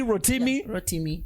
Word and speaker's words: Rotimi: the stage for bobby v how do you pronounce it rotten me rotimi rotimi yeah okay did they give any advice